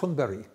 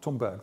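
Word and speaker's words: Thunberg: is pronounced great at one Barry not Tom Berg the Swedes pronounce it that way see that's how he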